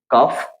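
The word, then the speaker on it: calf: silent है then next कफ कफ इसमें क्या है एफ लास्ट में है और उसके पहले क्या है एल तो एल जो होगा वो साइलेंट हो जाएगा ठीक है इसमें भी एफ का साउंड आएगा एल का साउंड नहीं आएगा यहां पर भी देख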